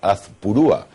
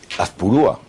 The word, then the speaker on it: Azpurúa: Don Azpurúa, bienvenido a Magabusiness. Muchas gracias, encantado de estar aquí. Azpurúa, esto me suena... Azpurúa. Ah, pues me han puesto el acento en el otro sitio.